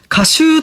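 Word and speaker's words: 夏秋: Komatsu-shi of Ishikawa Prefecture, Kashuu tomatoes are being shipped for the first time this year 🦁Kashuu tomatoes, huh 🦇It's written as summer (natsu) plus autumn (aki), and pronounced as kashuu 🦁Uh-huh 🦇It's very juicy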